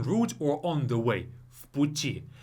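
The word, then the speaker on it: в пути: Vputi. I don't say vputi. I say vputi, like as if it's an F. Vputi. Why is that? Because the next word starts with a voiceless consonant p.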